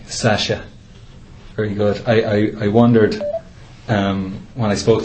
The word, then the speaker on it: Sciasia: I'll give you the correct, my pronunciation, Sasha. Sasha.